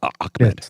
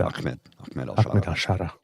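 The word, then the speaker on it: Ahmed: at alsara I'm at akmed it's pronounced ammed correct I believe so yes there's no C but it's pronounced ahed yeah I think so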